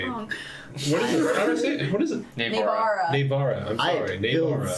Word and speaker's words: Nivera: This is Sven, Anton, and Nivera. We are I say it wrong. What is it? How do I say it? What is it? Navara. Navara.